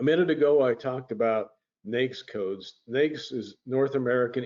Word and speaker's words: NAICS: And NAICS is how it's pronounced.